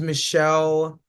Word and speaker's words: Mishael: Her name is Michelle, but it's spelled like Mishael.